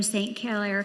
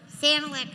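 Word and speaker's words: Sanilac: At this time, I would like to introduce Janet Cargle, a delegate from St. Kier County to lead us in the invocation. I said it wrong. Sanac County.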